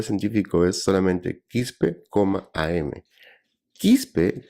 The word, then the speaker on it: Quispe: Quispe tiene la facilidad de pronunciación, entonces para los americanos yo soy el doctor Quispy, pero le achuntan, así que es diferente para mí.